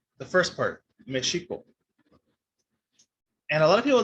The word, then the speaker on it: Mexico: SH sound to now it's, of course, the J sound. And so that's why, even though it's spelled with the X, because the Spanish language changed, it's no longer pronounced Mexico, and now it's pronounced Mexico.